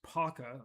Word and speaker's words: Paca: I even say it says it says Paca is pronounced Pac.